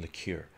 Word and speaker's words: liqueur: Is the way you pronounce liquor just a Canadian accent? No, liquor is different than liqueur. Liqueur specifically means sweet alcoholic beverage, usually, I think, more than 25% or something like this.